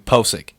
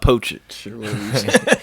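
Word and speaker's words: Pocic: uh and I apologize I've been saying uh your name wrong for weeks now Ethan posic not poaching Ethan posic we need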